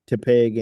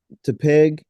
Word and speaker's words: Tepig: tepig, like tepid, like tepid.